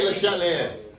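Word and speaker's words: Le Chatelier: I say LeChatelier because you don't really pronounce the last letters.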